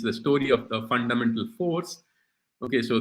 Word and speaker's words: Fours: The title of my talk is the story of the fundamental force. Okay, so the force, F-O-U-R-S, it rhymes with force, and I am going to talk about four fundamental forces.